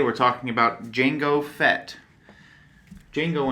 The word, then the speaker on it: Django: talking about Jango Fett Django Unchained but the D is silent because it's non-existent whenever